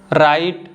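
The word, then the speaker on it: write: तो पहला एग्जाम्पल है राइट, रेसल।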